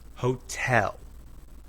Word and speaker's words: hotel: In hotel, the second syllable is stressed. Hotel.